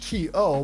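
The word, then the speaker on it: と: a different particle called to. And this is basically spelled the same way that we spell to in English, T-O, but it's pronounced to.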